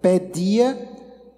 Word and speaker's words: paideia: E através, eu vou falar exatamente sobre isso, que no grego é a palavra paideia, que se a gente pronunciar hoje no grego atual seria pedia, da onde vem a